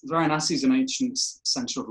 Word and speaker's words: Varanasi: Varanasi, that's it.